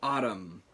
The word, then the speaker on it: ATUM: as you've been alive but I'm talking about Autumn yes that's how that that's pronounced um Autumn by Smashing Pumpkins uh which